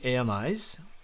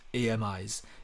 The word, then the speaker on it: AMIs: make it simple we've built those deep learning a Mis if you've never heard about a Mis that